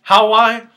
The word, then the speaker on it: Huawei: I could be misspelling it, but well, how would you pronounce that? Huawia. Huawei. Huawei. Okay, let's go with Huawei.